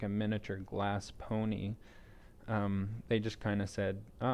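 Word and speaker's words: Pwnie: you're referencing was the the pony awards and it's spelt p-w-n-i-e and it's it's kind of a play on words for or a play a silly way of spelling owned and um yeah it's kind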